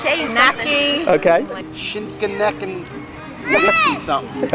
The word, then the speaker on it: Shai Shacknai: Can't pronounce it. Shay. No, it's Shay Shacknai.